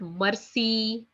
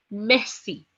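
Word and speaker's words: merci: night messy messy okay nobody will pronounce it Mercy Mercy no it's messy okay messy that is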